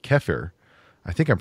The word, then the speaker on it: kefir: There's another fermented dairy product that's pretty popular called kefir. I think I'm pronouncing that correctly.